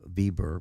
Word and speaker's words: Weber: Garrison troops under um Weber although they he's it's pronounced bber because he was German um and they're going